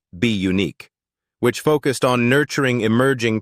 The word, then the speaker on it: Bunique: In 2013, she launched a modeling and talent agency called Bunique, pronounced be unique, which focused on nurturing emerging talent while remaining rooted in family and community.